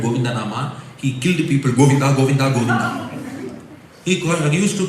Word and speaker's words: Govinda: Bhagavan's name Goinda it has three syllables in Sanskrit goinda three syllables in English spelling different